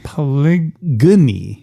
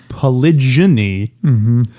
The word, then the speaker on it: polygyny: Polygyny. I think that's polygyny. Polygyny? I think I remember hearing it pronounced that way. Because it's Gyny, right? Yeah. It's not like gynecologist.